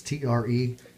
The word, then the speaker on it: Tresalto: I'm not sure how to pronounce this, Tresalto or Tresalto, but it's Tresalto.